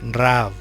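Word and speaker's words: רעב: el hebreo en bruma es deletrear res a jean veil y es pronunciada raw de hecho no significa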